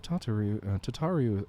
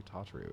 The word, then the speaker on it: Tataru: Before you leave, might I suggest that you have Tataru accompany you? I always get her name wrong. Every single time I say Tataru, it's Tataru.